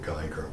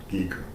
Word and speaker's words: Geiger: jeremiah thies was determining germans would pronounce it geiger but we call it geeker germans who went to